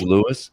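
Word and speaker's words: Lewes: And I was wonder is that Louis or LSE? Because they spell it's Louis. It's Louis. It's L. It's spelled L E Wes.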